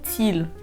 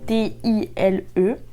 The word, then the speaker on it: Tile: Mais vous en avez également de la marque Tile. Je sais pas comment vous le prononcez, c'est Tile, T-I-L-E.